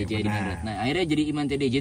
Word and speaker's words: Djayadiningrat: Kenapa nggak TD ya kan ya? Karena masih ejaan lama jadi DJ. Jaidiningrat.